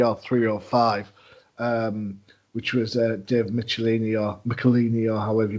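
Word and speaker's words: Michelinie: 305, which was Dave Michelini or however you pronounce the surname. Because I know we disagree on that. I believe it's Michaelini. I believe Joe introduced me to him as Dave Michaelini, and I said, "Hi, Mr.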